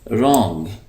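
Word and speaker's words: wrong: रॉन्ग, ये जो डब्ल्यू है ये साइलेंट है, इसको हम पढ़ेंगे रॉन्ग गलत।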